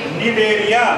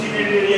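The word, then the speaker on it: Cnidaria: सी एन आई डी ए आर आई ए, इसमें सी silent रहता है बोलने में, कुछ बच्चे ऐसे होते हैं सी निडेरिया कहते हैं इसको, निडेरिया होता है ना, एक आध बच्चा ऐसा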